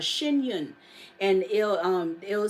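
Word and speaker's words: Shen Yun: on with that it's called shun and it'll um it'll say China before communism again it's spelled s h e n y u n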